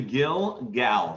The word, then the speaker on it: Gilgal: g-i-l it was actually gill gal so it ends with an l gill okay field gail